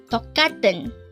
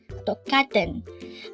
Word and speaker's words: 똑같은: 똑같은. 똑같은. This is pronounced as a three-syllable word.